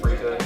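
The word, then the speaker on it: freekeh: And then entrees, you had I had the grilled trumpet mushroom, which is Japanese curry, fall vegetables, and freeka. Did I pronounce that right? It is indeed freeka.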